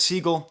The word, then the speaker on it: Siegel: Woods and Kenny Siegel I asked on Instagram how to pronounce his last name everyone says Siegel so I hope that's right now I was you might